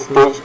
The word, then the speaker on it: stages: Say 5 stages. Don't forget to put that additional syllable. So when stage is singular, you say stage. When you put the S on it, you say stages.